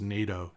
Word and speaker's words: nato: so it's used in Guitar construction and it's pronounced as NATO the body finish is satin which is okay